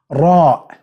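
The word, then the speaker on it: راء: be easy for you English it's gonna be ER which is not correct you have to roll your mouth okay and you can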